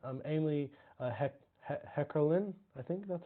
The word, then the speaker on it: Heckerling: But it's Amy Heckerlin. I think that's how you Amy pronounce it. Heckerling.